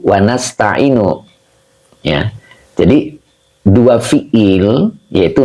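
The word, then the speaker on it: نستعين: Tidak dengan bentuk mufrad. Tidak begini. Iyyaka a'budu wa iyyaka asta'inu. Nah, tidak begini. Ya, kenapa gitu? Kenapa kita bacanya iyyaka na'budu wa iyyaka nasta'in?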